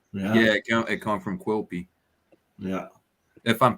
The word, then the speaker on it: Quilpie: Yeah, Quilpie. All right. Quilby, yeah.